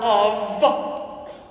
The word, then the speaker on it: of: And the F in the word of sounds like a what? A V. V is in Victor.